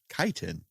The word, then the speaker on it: chitin: let's look it up i googled it and it said kaiten so yeah i'm pretending